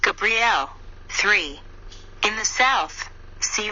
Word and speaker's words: Gabriel: behind me and then vibrate Gabriel pronounced Gabrielle three in the South